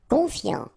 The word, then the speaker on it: confiant: Confiant, okay, final T not pronounced, so O-N, on, I-A-N, ian, confiant, confiant.